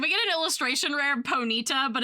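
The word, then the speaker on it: Ponyta: I like Ponita spelled like Bonita and it's just like got big cute eyes. Yeah. Ponyita.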